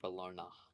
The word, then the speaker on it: Bologna: So basically, historical mispronunciation is why it's pronounced like that. And advertising. In Italian, it's pronounced Bologna.